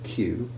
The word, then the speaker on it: queue: two important exceptions to this usual way of pronouncing q u these exceptions are the name of the letter q and the word q both of which have